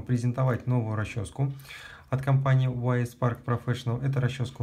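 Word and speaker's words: Y.S. Park Professional: за это дизлайк, но теперь я буду говорить правильно YS Park Professional. Вот, перед всеми извинился, все честно, так что продолжаем. Значит, смотрите, я хочу вам презентовать новую расческу от компании YS Park Professional.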